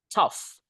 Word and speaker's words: tough: You can say like GH-nya ini dibaca F makanya tough tough sulit berat.